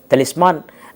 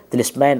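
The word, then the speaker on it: طلسمان: کو دیکھ کر کے، تلسمان جو ناول ہے، اردو میں اس کا تلفظ یہی ہے، تلسمین آپ انگریزی میں اسے کہہ سکتے ہیں، لیکن اردو میں اس کا تلفظ تلسمان ہے۔ تو اس کو دیکھ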